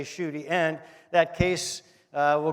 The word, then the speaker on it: Schuette: you know your honor just say on duty bill shooty three times and you'll get it down pat now there were pretty quick studies and they learned that they were able to say shooty and that case uh